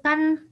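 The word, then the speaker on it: 火: Nah, di sini bisa kita lihat ya, kanji itu kan lambang sebenarnya, simbol.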